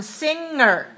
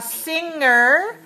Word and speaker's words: singer: want you to know it's different from singer can you hear the difference a singer is a person who sings there's no good in that word there's a G letter but there's no good sound there's an F sound